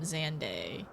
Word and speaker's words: Xande: I I I heard I was told um Xande. So that's why I've been saying it like that. Unless it's unless uh unless it's more of an accepted way to hear or to say his name.